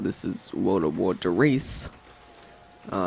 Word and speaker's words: Der Riese: a world record this is World of War Darice uh it's not pronounced theise it's pronounced theice uh which is German for the giant so